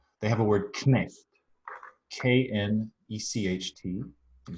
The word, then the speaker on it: Knecht: And as you hear, knecht, German keeps the k sounding before the n.